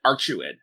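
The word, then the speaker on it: Arcueid: awesome idea about uh oh wait no they pronounce it archuid yeah it's not in there i have an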